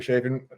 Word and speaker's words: Chafin: just to tie everything together I have Jeffrey shaen you go by Jeff correct and I pronounced your last name yep right so I'm